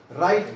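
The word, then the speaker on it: write: हो या नहीं लिखते राइट करते है राइट की क्या होगी राइट road रिटन dull are आईटी राइट डब्लू को क्या रखेंगे साइलेंट राइट रोट डब् आरटी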